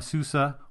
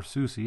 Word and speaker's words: SUSE: the falcon sensor on a Susa or SUSE however you prefer to pronounce it 11 Enterprise Server again